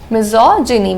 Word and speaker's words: misogyny: add miso with gyn misogyny the pronunciation changes a little bit misogyny which means hatred towards women and misogynist means a specialist in doing that.